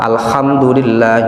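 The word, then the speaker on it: الحمد لله: rawan ini di Alfatihah huruf ha Alhamdulillahi rabbil alamin al ha al ha itu Ko bacanya harusnya bersih enggak ada KH enggak ada ngoroknya itu enggak ada Alhamdulillahi rabbil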